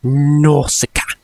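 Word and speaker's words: Nausicaä: I am 100% certain that's how you pronounce it, because it's like something from like the movie or the trailer just rings in my bell and just says Nausicaa.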